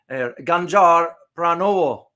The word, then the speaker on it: Ganjar Pranowo: You have the next person is, I got to pronounce it correctly here, Ganjar Pranowo.